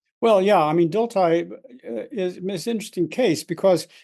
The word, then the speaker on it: Dilthey: Dilthey.